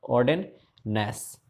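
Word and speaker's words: Ogden Nash: ऑगडेन नेस, ऑगडेन, है ना, तो ऑर्डेन नेस, जी साइलेंट हो जाएगा। ऑर्डेन नैश, NASH, ऑर्डेन नैश इसके राइटर हैं, ठीक है।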